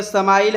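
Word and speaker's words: smile: एम आई एल स्माइल इसको लिखते हिंदी में समाइल है लेकिन उच्चारण स्माइल करते हैं और स्माइल का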